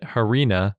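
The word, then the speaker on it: harena: someone pointed out that harina for sand is the root word for arena which makes the pronunciation very easy to figure out because just arena with an H at the beginning and a bonus etaly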